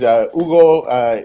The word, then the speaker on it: Hugo: Yeah, our website is Hugo. It's HUGO. The H is silent.